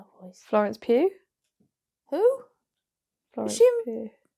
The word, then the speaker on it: Pugh: Is it Pugh? Pugh. Pugh? It's Florence Pugh. How else would you say her name? Pughu. Pughu. Huh? Pow. I don't know. Cha-ching. Poe?